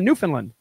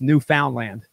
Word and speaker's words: Newfoundland: but I was the I was even saying it wrong I'm like yeah we're going to Newfoundland and they're like no it's Newfoundland I'm like oh I'm